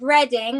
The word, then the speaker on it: Reading: I mean, my name is Reading, like the town, but everyone pronounces it wrong.